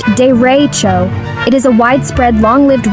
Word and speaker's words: derecho: It's called a dero, pronounced dero.